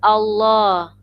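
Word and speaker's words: الله: kasroh contohnya lafaz walillahi Nah kalau lafdzul jalalah tafkhim atau lafaz Allah yang dibaca tebal syaratnya yaitu huruf sebelumnya harus berharokat fathah atau dhummah ya Fatah atau Doma maka dibacanya illallah I Allah yg tebal kitabullah yg beda dengan Walillah Iya ini tipis dan ini tebal Ayo kita praktikan Hai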